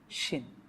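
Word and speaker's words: شين: সিনের আওয়াজটা একটু চিকনো হয়, শিনের আওয়াজটা একটু মোটা হয়।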